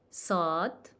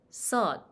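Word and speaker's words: ص: Saad, Saad. So Saad, we pronounce it as sa, sa, sa, like a thick S, thick S.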